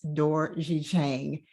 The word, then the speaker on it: Dorje-Chang: introducing to some and uh she's awesome shanice d'orji chang hello and welcome to they made it happen